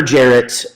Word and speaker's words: Jaret: Never Jarrett, and definitely Red Dick a lot, and made fun of because Jarrett rhymes with carrot, and I was a